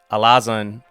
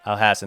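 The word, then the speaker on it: Alhassan: and I think um Alazan alhassen alhassen there it is I was saying it wrong I'm sorry alhassen is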